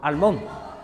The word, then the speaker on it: Almont: En el siglo X se nos habla por primera vez de la fortaleza de Almont, esta es la pronunciación correcta de nuestro pueblo, Almont.